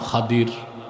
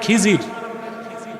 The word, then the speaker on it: খাদির: এক বান্দা, তার নাম খাদির। খাদির তো বুঝেন নাই, যাকে আপনারা বলেন খিজির, ওনার নামটা কি? খাদির, বিফাতহিল খা ওয়া কাসরিদ দাদ, খাদির। আমরা বলি খিজির, এটা ভুল উচ্চারণ, শুদ্ধ উচ্চারণ কি? খাদির।